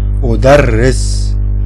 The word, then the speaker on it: أدرس: Strong R, like the Spanish R. أدرس, because strong.